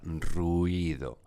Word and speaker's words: ruido: de León, en donde tenemos la palabra ruido y hay que pronunciarla en 3 sílabas y no en 2 como sería la pronunciación normal, de tal forma que